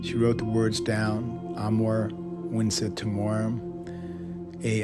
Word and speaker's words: Amor Vincet Timorem: o r e m you don't pronounce the v in Latin it's the W sound I'm more wiet torum and so she well